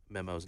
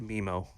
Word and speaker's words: Memo: by Patrick for mispronouncing Memo's name of course you did how do you mispronounce memo I said mimo no why what is